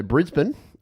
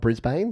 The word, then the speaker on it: Brisbane: Cairns, like Queensland in particular, has so Brisbane is how you say the capital of Queensland, not Brisbane.